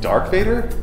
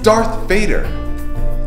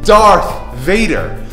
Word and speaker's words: Darth Vader: it right I couldn't care less about it dark Vader really this is that oh yeah all the